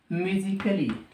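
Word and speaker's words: musically: से पहले ठीक है बेटे अगर डब् एल वा से पहले ए आ जाए तो ए क्या हो जाता है साइलेंट साइलेंट जैसे लॉजिकली म्यूजिकली अब मुझे यह बताओ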